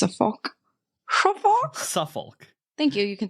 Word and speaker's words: Suffolk: how you say it suoc s suol shul Suffolk thank you you can say it um so